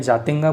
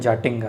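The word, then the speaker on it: Jatinga: हिंदी में जातिंगा बोलते हैं, स्पेलिंग इंग्लिश में जाटिंगा है।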